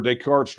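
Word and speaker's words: Descartes: Okay, new channel member Daycart's Droid. Uh and see notice I pronounced it correctly because I know I know who Decart is.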